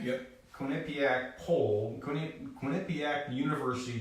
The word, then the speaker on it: Quinnipiac: based on it am I saying it right Quinnipiac yep Quinnipiac poll couldn't be act University pulled it I